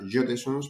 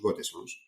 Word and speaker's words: Gotesons: y Gotesons, bueno, pues Gotesons con dos S, en realidad se pronuncia Jotesons, pero bueno, en España lo llamamos Gotesons.